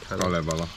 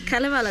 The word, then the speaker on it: Kalevala: Kalevala. Kalevala.